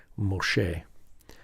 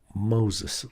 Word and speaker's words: Moshe: Moses, we call that Moses, and the Moshe, the at the end, Moses is same as like Jesus, right? Or Elias. That is that S sound at the end in our English comes from through the Greek, and it is a way that the Greek encodes a nominative case. And so it's not part of the name.